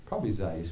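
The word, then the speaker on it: Seiss: Scissor Zeiss, but it's spelled S E I S S. That's exactly almost like Dr. Seuss.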